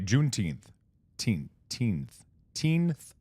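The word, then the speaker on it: Juneteenth: Junth teenth.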